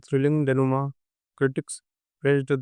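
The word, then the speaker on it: dénouement: चौथा है डेनुमा डेनुमा बहुत लोग इसको गलत पढ़ेंगे कि इसको पढ़ेंगे डेनुममेंट और पुष्प अलग-अलग लेकिन इसका सही प्रोनाउंसिएशन उत्तर है डेनुमा इसका मतलब होता है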